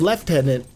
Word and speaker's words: lieutenant: what you guys think why it's called left tenant and not lieutenant because that's just see this one I can't explain.